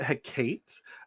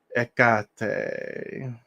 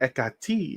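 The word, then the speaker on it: Hecate: uh yeah card one I've heard people pronounce it hey Kate and I don't I don't like it it bothers me it's not akate uh the in-between the in between trying to put that where you can see a little better ekate or ekati of her people pronounce there's so many different ways people pronounce it uh it's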